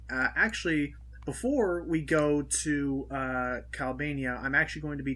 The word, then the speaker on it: Calbania: it's pronounced Calbania, but whatever.